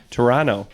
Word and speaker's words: Toronto: as he says it Toronto because you don't pronounce the second T is that right that's